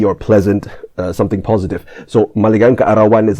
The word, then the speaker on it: maligayang kaarawan: Okay, so as you heard in the clip, maligayang kaarawan. Maligayang kaarawan. So the stress is on the ga and the an at the back.